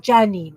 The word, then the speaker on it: Janine: Is it Janine or it's not Janine? It's Janine.